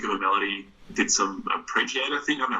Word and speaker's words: arpeggiator: Did some arpeggiator thing. I don't know how to pronounce that.